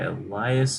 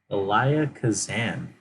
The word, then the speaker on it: Elia Kazan: the Crowd, directed by Elias. Cause Elia? Are you serious? Have I been saying his name wrong this whole time? I thought there's an S in there. Swear to God, Elia Kazan.